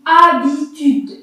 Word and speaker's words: habitude: Pareil, H muet, donc on lit habitude. On écrit le H, on voit le H, mais on n'entend pas.